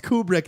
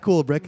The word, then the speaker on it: Kubrick: brick first of all it's kubrick not cool brick you say cool brick well i'm going with cool brick because german pronunciation because uh eyes wide